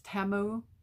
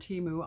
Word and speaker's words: Temu: way to say it I guess it's TAMU TAMU that's the way they were saying it on the Super Bowl I didn't watch it but that's what I was told so we pronounce it wrong here TAMU I don't